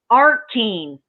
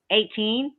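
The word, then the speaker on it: eighteen: she said, okay, and he goes, it's like AR, artine. And he goes, so how do you say it? And she goes, 18. And he goes, no, artine. And she goes, no, it's pronounced 18. He was so proud of himself that he learned how to say artine, like South Africans or Australians. And she goes, I'm pretty sure I've never heard a South African or a Australian pronounce 18 like artine.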